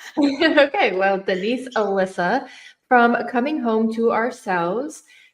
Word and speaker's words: Elysa: Because I just want to make sure I'm pronouncing it correctly. Yeah, no problem. It's Alyssa actually.